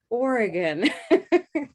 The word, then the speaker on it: Oregon: what do you say is it oregon organ how do you say that state name and what color do you use take a look in the chat okay here we go wonderful what do we have showing up there orange door that's right so let's try an orange door ready orange door oregon i lost my place